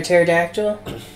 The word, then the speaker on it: pterodactyl: You know why you can't hear a dinosaur go to the bathroom, or rather a pterodactyl, because the P is silent.